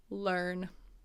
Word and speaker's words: learn: Learn. Learn. Learn. So let's look at this. Even though it's a E-A-R, it's not ear, like this is my ear, learn.